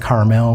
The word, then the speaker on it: Carmel: I live in Carmel, Indiana. Um I know most of the other places around the country it's pronounced Carmel, especially uh for you people in California, but in Indiana we say Carmel.